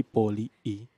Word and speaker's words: Polii: Bukan bacanya harus poli I gitu ya. poli I. Jadi besok teman-teman kalau ada yang ketemu sama manggil poli I gitu. Ah, poli I. Biar I-nya ketekan.